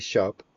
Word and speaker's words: C#: and we pronounce that cop like the music term is a programming language